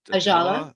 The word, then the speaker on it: Ajala: We got the name wrong. Ajala. Ajala.